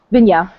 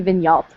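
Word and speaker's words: Vigneault: it wrong um because there are a lot of letters that we just ignore apparently yeah it looks like it should be vigal but it's not yes um I think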